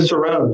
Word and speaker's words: Cicerone: you was the certified, is it Cicerone? Am I pronouncing that correctly? Cicerone, yes, that is correct.